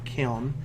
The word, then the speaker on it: Kiln: on the couch because I'm pronouncing it kale killin instead of kiln its kiln fiend I'm sorry but the